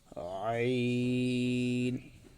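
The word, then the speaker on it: عين: আইন গলাটা একটু চিপাইয়া উচ্চারণ করার জন্য চেষ্টা করব ইনশল্লাহ।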